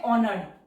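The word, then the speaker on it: honoured: Word है ऑनर्ड, इसे ध्यान से देखिए। एच हमारा साइलेंट होता है, एन, एन की साउंड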